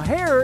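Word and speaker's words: Haer: Now, Hare is spelled H-A-E-R.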